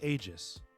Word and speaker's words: Aegis: I think it's a Is it AIS or Aegis Force? I think it's I'm pretty sure it's Aegis.